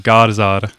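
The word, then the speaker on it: Garðar: The D is kind of pronounced like a Z. It's like Garzard.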